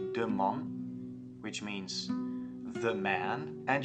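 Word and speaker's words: من: I, which is man, you're not saying man as in Dutch with the lazy a, but you're saying with the pronounced a, as for example in Spanish, when you say vale, the a, that's the one that you use in Farsi too.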